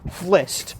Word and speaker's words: Flist: They add an I in there so that it's easier to pronounce, but it's just Flist, right?